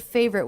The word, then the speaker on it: favorite: I also noticed that the word favorite was pronounced with only 2 syllables, as if this letter was dropped. Favorite, favorite, favorite. This is my favorite breakfast. I'm also noticing this T pronunciation. The final T in favorite was pronounced as a stop. Favorite, favorite, favorite breakfast. So there was no release T of the T sound.